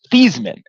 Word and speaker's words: Theismann: fact about Joe Theismann, his last name is actually pronounced Teesman. And what ended up happen was when he was at Notre Dame, he was in running for the Heisman award. And so they came to him and basically said if you change your name to the pronunciation to Theismann, you know, maybe that'll help you out.